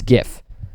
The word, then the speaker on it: GIF: It's GIF. Yeah, it's pronounced GIF.